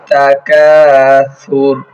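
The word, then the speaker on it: التكاثر: আলহাকুমুত তাকাসুর। তাকাসুর, সা নরম হবে, পাতলা হবে।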